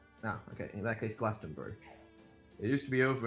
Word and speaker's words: Glastonbury: it's Glastonbury. You don't pronounce the U. Ah, okay. In that case, Glastonbury.